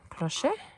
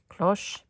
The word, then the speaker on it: cloche: of the cloche dome if i'm saying it wrong share that with me how would you pronounce it i should ask my friend before i did all this crochet no cloche okay so i think this